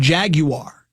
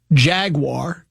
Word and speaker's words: Jaguar: This one says, Jaguar, the car, gets the British pronunciation, Jaguar. The animal gets the American pronunciation, Jaguar, since the football team's logo is not a car.